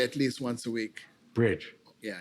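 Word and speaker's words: Brydge: That's great dining with a great And then we have a really good restaurant in Cambridge called Bridge.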